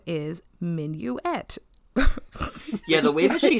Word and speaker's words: Minuet: can you spell minuet i had to write it out phonetically because otherwise i would just be calling her minute the whole time i mean in fairness